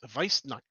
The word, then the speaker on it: Weissnacht: Pronounce it as a V. Yes. These Weissnacht events are most dangerous to immature human children with negative personal traits.